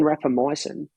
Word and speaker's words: rapamycin: you why um it's called rapper mycin um that's spelled r-a-p-a -m-y-c-i-n rapper myosin rapamycin does everything that metformin can